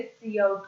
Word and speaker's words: cout: पे हम यहाँ पे सी आउट का यूज करने वाला है। सी आउट हमने लिखा जो है वही का वही हमें प्रोनाउंसिएशन के लिए भी यूज करना है, सी आउट, that mean COUT, सी